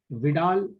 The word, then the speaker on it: Widal: विडाल test, ठीक है, आपको विडाल टेस्ट बताना है, इनमें से किससे किया जाता है विडाल टेस्ट?